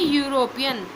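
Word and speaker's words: European: तो यूरोपियन में किस हमारा वोवेल क्या है, ई, लेकिन साउंड किसकी आ रही है अगर हम इस वर्ड को प्रोनाउंस कर रहे हैं तो यू की। किसकी आवाज़ आ रही है, यू की।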